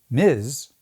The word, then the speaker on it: Ms: Now you may be wondering if they wanted it to be pronounced Miz, why didn't they just spell it MZ?